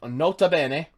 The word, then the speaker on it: Nota Bene: by the name of Nota Bene. I'm assuming that's how you pronounce it, or Nota Bene, like however it's not a bean. That's how us Americans would pronounce it. Nota bene. Not a bean.